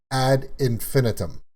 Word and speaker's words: Ad Infinitum: I've said all kinds of different ways, but it is confirmed the way to pronounce it is ad infinitum.